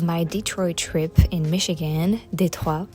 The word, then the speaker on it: Détroit: Détroit is how we pronounce it in French.